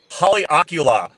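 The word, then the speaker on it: Haleakalā: And all I remember is Colin, I kind of looked at it, and he looked at me, and I said, Haleakala.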